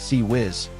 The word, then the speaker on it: CIWS: The Failank CIWS close-in weapon system, pronounced CE Whiz, is a radar guided 20 mm Gatling gun that fires 4,500 rounds per minute.